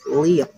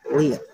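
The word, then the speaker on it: 零: So 0 in Chinese is liang. 0 is liang.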